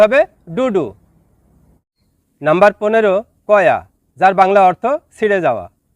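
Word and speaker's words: koyak: Number 15, কয়া, যার বাংলা অর্থ ছিঁড়ে যাওয়া। শব্দটি লেখার ক্ষেত্রে লেখা হয় কয়াক, তবে এর সঠিক উচ্চারণ হবে কয়া।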